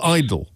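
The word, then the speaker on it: Idle: Do you pronounce idol? Idol. Idol. Yeah. Bradford. It's just pronounced idol.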